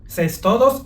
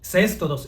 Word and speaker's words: cestodo: Aunque normalmente se escucha pronunciar las palabras como "nemátodos", "céstodos" y "tremátodos", lo cierto es que gramaticalmente si fueran palabras esdújulas deberían de llevar acento, pero como no lo poseen, la manera correcta de pronunciarlos es nematodo, cestodo y trematodo.